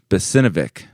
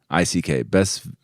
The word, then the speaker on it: Besvinick: His name is Adam Besinovic. No, I'm not. I better spell his name because I know I'm not pronouncing that right. Besvinick. Besvinick is his name.